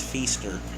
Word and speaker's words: Feaster: teacher his name was Miss Feaster it rhymes with Easter cowboy kind of funny